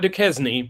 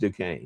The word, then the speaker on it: Duquesne: They're hosting Duquesne coming up at 5:00 on Saturday. That is Duquesne. Yeah. Duque Not Duquesne, but Duquesne. No, no, it's pronounced Duquesne.